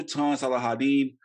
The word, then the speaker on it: Salahuddin: know the star of the show Mr Su salahadin thank you so much for uh coming on